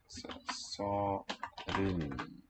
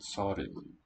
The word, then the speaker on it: 서른: 서른. The double letters make the word spelled quite long, but it's just a short two-syllable word, 서른.